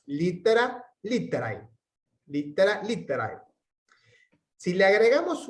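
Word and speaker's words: litterae: Se puede pronunciar siempre litere. El diptongo ae lo podemos pronunciar e, si adoptamos una pronunciación más evolucionada.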